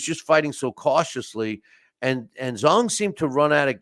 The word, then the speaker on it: Zhang: Joseph Parker beat Zili Zhang, or actually it's pronounced Zong, in their fight.